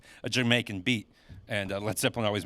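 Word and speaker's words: D'yer Mak'er: of American Airlines yeah they call it dire maker like what the hell that's how it's spelled yeah uh but pronounced Jamaica but uh yeah I don't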